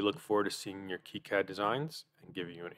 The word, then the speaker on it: KiCad: author John Pierre chus was French so he pronounced it Keat and the word key having no meaning uh